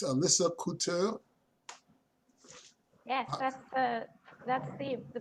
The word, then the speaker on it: Couture: you tell me if i'm right it's alyssa coutu yes that's that's the the proper way to